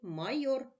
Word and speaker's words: майор: визначимо наголос у слові майор майор наголошений голосний о наголос падає на другий склад що це майори давай